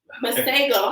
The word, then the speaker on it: Masego: Masego. How do you Masego. spell that? Just like it sounds.